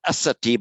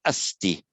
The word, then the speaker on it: asti: directly to the roots it's not asati but asti so he is he